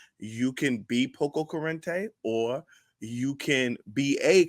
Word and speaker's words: Pococurante: But how many syllables is that? Pococurante. It's 5 syllables, ladies and gentlemen.